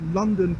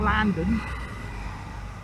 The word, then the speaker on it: London: You actually pronounce London properly. It's London. It's L-O-N. London. You know, not Landon.